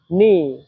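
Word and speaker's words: 你: আর তিন নাম্বার টনের উচ্চারণ নিয়ম হচ্ছে উপর থেকে নিচে আবার নিচ থেকে উপরে।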